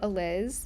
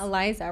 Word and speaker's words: Aliz: And I think it's because I go by Aliz. Yeah. To a lot of people, but that's not a common nickname. And so people like don't know how to say it. They turned it into Eliza. Right. It's not Eliza, right?